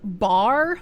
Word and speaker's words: Barre: It's in a place called Bar, Mass. I kind of want to call it Barre, because that sounds cuter, right?